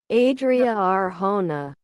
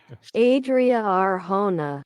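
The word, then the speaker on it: Adria Arjona: if we put this on the screen here Adria Arona Adria Adria Arona Ona Adria ARA I don't know that's giving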